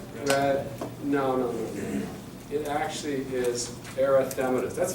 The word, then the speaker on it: erythematous: It's an erythematous throat. So this is your kindergarten color. So yellow is xantho, chloro is green, cyan is red, or like cyanotic, they're blue-lipped. Erythematous, 5 syllables.